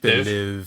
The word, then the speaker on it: Villeneuve: Villeneuve. Okay, thank you. Phew. Okay. All right, Keith. Someone thanks. knows. Go ahead. Denis Villeneuve.